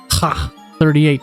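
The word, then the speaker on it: Kh-38: I am aware that in Russian, KH is actually pronounced ha as in ha 38.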